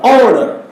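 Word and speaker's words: honour: H-O-N-O-U-R, honor. So H is silent here.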